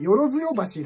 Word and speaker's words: 萬世橋: 一翁さんですねちゃんとした読み方ね萬世橋らしいんですけども通称の万世橋というのが定着してますねあとは生活